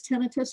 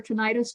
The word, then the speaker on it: tinnitus: as a basic definition what is tinnitus or tinnitus by the way both ways both pronunciations are correct it's really any kind